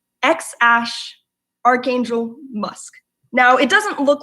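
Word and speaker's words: X Æ A-12: named their baby and this is exactly how it's pronounced ex Ashe Archangel musk now it doesn't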